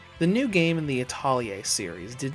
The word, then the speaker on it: Atelier: a partial English dub, I'm going to say it the way the Japanese voice actors say it. Atelier. Now back to business. The new game in the Atelier series did not come